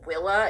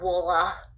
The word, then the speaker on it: Willa: W I L L A willa. It's very very simple. Okay. It's not woola.